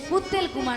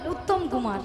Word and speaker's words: উত্তম কুমার: শ্রী শ্রী উত্তেল কুমার নয়, বলো উত্তম কুমার।